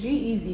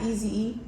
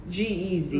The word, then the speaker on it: G-Eazy: saying that name wrong is G-Eazy Not Easy E or whatever I said anyway easy player my bad G-Eazy my bad couldn't have